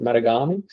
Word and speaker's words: Matagami: So we flew to is it Matagami? How do you pronounce it? Matagami, and then onto the project.